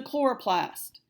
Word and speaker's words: chloroplast: did next is the chloroplast and again you have to underline that CH and right okay it's not so little slow Laura Plast it is chloroplast this one you might